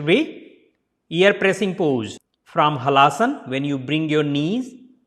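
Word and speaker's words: Halasana: So it is a single A, so small sound. Hala. Not opening the mouth too much. Hala asana. If you put together, then la becomes la. So it will be Halaasana. Separately Halaasana. Together Halaasana. Next it will be ear pressing pose.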